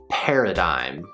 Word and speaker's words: paradigm: This word is pronounced paradigm, paradigm. So we've got 3 syllables, the first one being pear, like the fruit pear, or a pair of things. 2 things are a pair. That's our first syllable, pear.